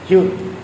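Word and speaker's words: 히읗: হিউত, হিউত হচ্ছে ব্যবহারের নিয়ম।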